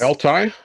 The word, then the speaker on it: Aletai: It's Altai. There you go. ALETAI. Now I'm not certain I'm pronouncing that right.